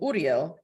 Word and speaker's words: Uriel: __ ] weird right and I'm pronouncing it that's the traditional Hebrew way of pronouncing it so you say it before me Uriel and right after you